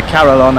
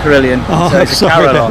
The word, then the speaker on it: carillon: a previously as well people to pronounce it as a carillon actually not a carillion yes um the krillian